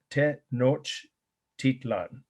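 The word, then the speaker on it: Tenochtitlan: with this our first one the founding of te noch titlan i learned how to pronounce it from a person from what is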